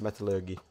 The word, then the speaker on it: Metallurgy: Metallurgy is what how I've pronounced Metallurgy. It. It's like metal and then lurgy.